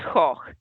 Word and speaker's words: Gogh: It's Gogh. You're mispronouncing it in the French way.